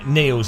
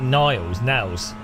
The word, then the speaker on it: Niels: You pronounce his name Niels though, not Niles, Nails maybe?